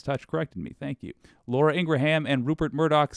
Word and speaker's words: Laura Ingraham: by the way I used to say that name wrong Midas Touch corrected me thank you Laura Ingraham and Rupert Murdoch said about you do you